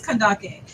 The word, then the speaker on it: Kandake: to clarify to me is it cond or is it Kaki or kak kandake which one okay so it is kandake so I'm just let everybody know I said it right the whole time it's K right thank